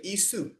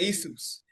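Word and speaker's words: Ἰησοῦς: because there was no, they couldn't pronounce a sh, a sound, SH or sheen sound. So they transliterated it into a language where they were able to actually pronounce. So they would say Isu. Yep. And Isus.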